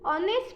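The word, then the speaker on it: honest: हा ओ एन ए एस टी में भी ऑनेस्ट कहते थे ऐसे साइलेंट है हमने नहीं हा ओ एन ए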